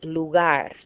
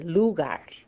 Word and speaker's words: lugar: the final syllable okay for example we say lugar the word for place we don't say lugar how do we know that because it ends in a consonant other than an hour ask so stress natural stress goes on the last syllable Libertad dvd-r and you'll